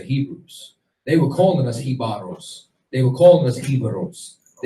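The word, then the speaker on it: Jíbaro: there's certain things like, for example, Hibaro, or Hibaro is the real pronunciation of it. That's what they called the Tainos who fled into the mountains in order to hide from the Spanish. Hibaro, if you go and you remove the J, you understand, which didn't even exist, it's Ibero.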